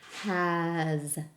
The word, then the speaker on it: has: And I would show them the pattern between has, z. That both of these have the z sound, but it's spelled with an s.